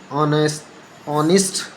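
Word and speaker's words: honest: लेकिन कई शब्दों में एच मूक यानी कि साइलेंट रहता है। जैसे आवर, ठीक है, आवर, ऑनेस्ट, ठीक है, ऑनेस्ट।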